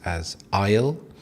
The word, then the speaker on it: aisle: Now, when you go to the supermarket, you are faced with a plethora of aisles. So, an aisle, you would pronounce this asleisle.